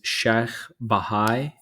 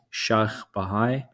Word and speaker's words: Sheikh Bahai: The architect of really all of Shah Abbas's work is Sheikh Bahai. I'll spell it. It's SHAYKH BAHAI, Sheikh Bahai.